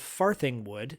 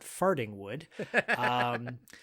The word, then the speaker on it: Farthingwood: He was an animator for a show called The Animals of Farthingwood, not Fartingwood.